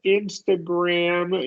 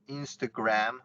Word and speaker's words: Instagram: in there excellent anything I would say is with Instagram you want to go a little wider here oh in Instagram yeah Instagram that's correct that's exactly right little nice wide a there anytime you get bowel consonant and nothing it's usually going to be short and for an a it's going to be a wide a most of the time